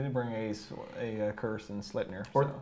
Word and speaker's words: Sleipnir: But and they try to teach us how to properly say Sleipnir, which is how we pronounce it, but it's actually Sleipnir. Yeah, it's more like an A sound in the middle.